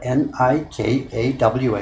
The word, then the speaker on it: nikawa: Yes, if I have 50 50 g of nikawa glue and the spelling there is a bit strange. We usually spell it n i k a w a nikawa.